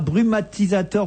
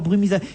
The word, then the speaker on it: brumisateur: Je voulais dire brumatisateur, brumisateur. J'ai l'impression qu'il manque une syllabe dans ce mot, brumisateur.